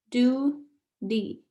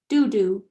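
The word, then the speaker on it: đu đủ: piglets excited i yell i think it's pronounced do d i'm stabbing at the image best food papaya your favorite food food is papaya by the time i teach her do d she teaches me dudu we're laughing so hard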